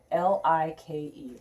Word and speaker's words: like: of course we know it's not lick it's like that's my silent e remember silent e can only travel one letter to make that i say its name if it's more than